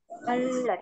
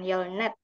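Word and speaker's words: 열넷: Kenapa ada yang kira-kira kenapa jadi baca yolet bukan yolnet? Karena kalau real ketemu sama nian semuanya dibaca yolet gitu ya, tapi tulisannya tetap yolnet, tulisannya tetap yolnet, bacanya saja yang yolet.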